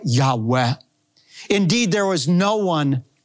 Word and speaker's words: Yahweh: the god of Israel whom Semitic scholars believe is pronounced a breathy reverent Yahweh the Lord kills she